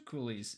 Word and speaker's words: Cuylle: One is how you think it is spelt, and the other is you have to look up the pronunciation. My brain seeing Uylle, like Cuylle, did never once went like, oh, that's coolie.